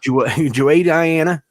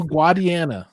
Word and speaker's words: Guadiana: Juay Diana. Guadiana. Juay Diana. No, Guadiana. That's how we would say it in Alabama.